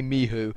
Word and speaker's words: Michu: Yeah, and apparently we're pronouncing Michu wrong. It's Mihu.